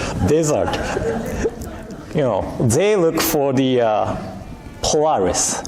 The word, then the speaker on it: Polaris: desert, not desert, desert, they look for the Polaris, right? The star, to know the direction. How do I pronounce Polaris?